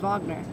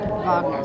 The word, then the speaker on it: Wagner: century composers I said we left off with Vagner that's rard Vagner spelled like Richard but it's actually rard Vagner what